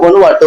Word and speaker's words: Vanuatu: அவர் எந்த நாட்டுக்கு அப்ளை பண்ணியிருக்காருன்னா வனுவாட்டு அப்படின்னு சொல்லக்கூடிய வனாட்டு அப்படின்னு சொல்லிட்டு ப்ரொனவுன்ஸ் பண்றாங்க, வனுவாட்டு அப்படின்னு சொல்லி உச்சரிக்கிறாங்க.